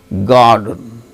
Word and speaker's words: garden: So, R is followed by the sound D in the word garden.